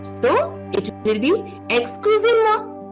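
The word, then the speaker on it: excusez: excuse me it is exclusive remember here if you look at the spelling you can get a bit confused you are not going to pronounce the last z here when you will get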